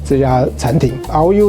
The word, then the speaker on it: RÒU: Tai-Chu, took was this RÒU, this meat RÒU, this restaurant. RÒU is pronounced the same as the word for meat.